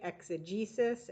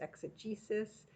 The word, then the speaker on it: exegesis: right next word exegesis so make sure you're pronouncing it right exegesis exegesis and it's a critical explanation or interpretation without